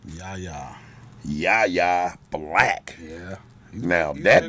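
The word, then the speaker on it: Yahya: in the uh rotation, but uh how you pronounce his first name? Yaya.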